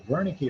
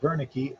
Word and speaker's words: Wernicke: So the Wernicke area, even though it's pronounced with a V sound, starts with a W, that's what are you saying? So here I'm babbling, I'm speaking, baby babbles. Here, Wernicke, what are you saying?